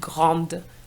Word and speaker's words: grande: And the pronunciation of grand is affected because we're going to pronounce the D to make the difference between grand, which is masculine singular, and grande, which is feminine singular.